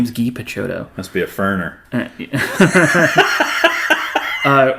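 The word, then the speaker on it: Guy Picciotto: his name is spelled guy guy PTO it's pronounced ghee his name is Gee picho must be a ferner uh or is it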